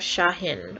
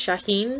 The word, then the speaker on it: Shahen: So next up on the Guardian list, we have Shahen, or it could be pronounced Shahin, because that is actually a Persian name. I'm going to be saying it Shahin because it's not written out phonetically. I'm assuming they want that little lilt there.